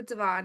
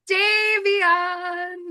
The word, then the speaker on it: Davion: camera a little bit, but I'm curious who Devon is. Did I say that right? No. Just call me Dave, Queen. Davion.